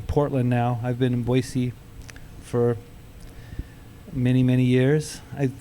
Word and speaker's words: Boise: There's I drive- no Z in there. Boise. No. That's how I say it.